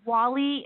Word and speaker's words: Wall-E: Well, it's okay, because I guess he's called Wally, and I always call him Wall-E, because that's how it's spelled.